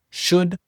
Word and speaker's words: should: Should, would et could. Première chose, les trois mots should, would et could, tu prononces pas le L.